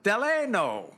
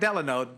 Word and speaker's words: Deleno: Ambassador Deleno. Yeah. Not Delano. Deleno Lewis.